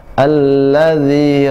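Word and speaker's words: الذي: Bismi rabbikal ladzi, bukan zi, alladzi khalaq, tidak boleh khalaq, tidak boleh ada hamzah, tidak ke, ya, tapi dipantulkan khalaq.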